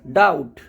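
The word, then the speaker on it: doubt: व ट रहता है और टी से पहले अगर बी हो तब भी बी साइलेंट रहता है जैसे डेट डेट का मतलब कर्ज डाउट सटल तो इनमें बी जो है वो लिखा हुआ है बट फिर भी हम उसको बोलते नहीं है और ओनली हम टी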